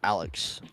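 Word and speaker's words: Alixe: knows the streets but my actual name is Alex also little thing because everyone you know seems to do this but I get it um it's not spelled a-l-e-x it's spelled a-l-i-x-e I don't know what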